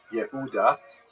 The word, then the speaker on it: Yehuda: But here you can see also with the distinctively ugly physiognomy and so on, Judas, which is of course the Latin way to pronounce the Hebrew word Yehuda or Judah, has an unfortunate